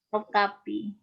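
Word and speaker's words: Topkapı: Ini ada mushafnya di Turki ya, di kita nyebutnya apa? Topkapi. Topkapi. Ya, Topkapi ya, ini bacanya gitu. Orang Arab Topkapi gitu ya.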